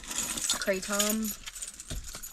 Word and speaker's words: Kratom: It's called Kratom. If you're from the States, depending on where you're from, you may pronounce it Kratom, but it's spelled K-R-A-T-O-M, and it's green powder.